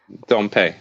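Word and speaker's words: Dompe: dump or dumpe or how how do I pronounce that dumpe dumpe got it okay good yeah yeah so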